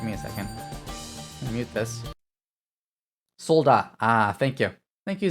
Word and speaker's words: soldat: the t then because i know a lot of french words uh you don't pronounce like t's at the ends of words so it's solda or soldat there's a a